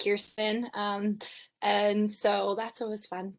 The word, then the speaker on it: Kirsten: So Kristen, after your introduction, we'll get into some questions. Hello, everyone. My parents are evil, and it's spelled Kirsten. It's pronounced Kirsten.